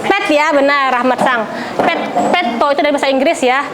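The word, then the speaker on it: ペット: Jadi ada tasdidnya ya kalau bahasa Arab ya. Petto. Petto. Petto itu dari bahasa apa kira-kira itu? Pet ya, benar Rahmat Sang. Petto itu dari bahasa Inggris ya.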